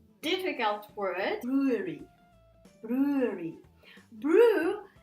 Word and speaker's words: brewery: And when we have a small company which brews beer, which produces beer, there is no much transformation. So u, and then a, ua, brewery. Okay, brewery.